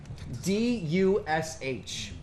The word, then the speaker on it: Dush: D-U-S-H. I guess it's supposed to be pronounced Dush or something, but, like, come on. For us, Douche.